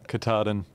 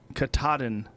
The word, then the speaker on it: Katahdin: Katahdin. Katahdin, Maine, 2,108.5 miles.